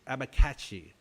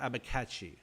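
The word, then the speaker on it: abacaxi: with abachaxi yes those are apistograma actually it's pronounced apistograma abba kakshi abikachi there we go apistograma abikachi i actually had to look that one up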